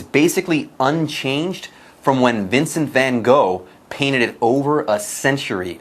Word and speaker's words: Van Gogh: Now get this, its exterior remains basically unchanged from when Vincent Van Gogh painted it over a century ago. So, wow. And by the way, a note on pronunciation. People say Vincent Van Gogh.